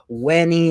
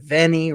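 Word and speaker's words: veni: of Latin for example their v's are pronounced as w's so you know you'd pronounce in in the Julius Caesar quote you'd pronounce you know wenny instead of venny right it wouldn't it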